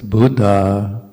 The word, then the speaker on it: Buddha: Try to pronounce both letters of a double consonant. That's also very English. In English we don't do that, or usually don't do that. So it's Buddha, or Sabba, or Satta.